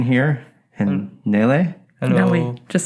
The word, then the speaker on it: Nele: So Nele, right? Yeah, it's Nele. Nele, Nele.